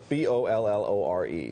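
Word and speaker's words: Bolloré: How about we spell it first for everybody? Okay. Sure. B-O-L-L-O-R-E.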